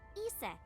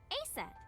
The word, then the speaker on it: Isis: mom is named Isis, but in ancient Egyptian, it's pronounced closer to Ise or Aset.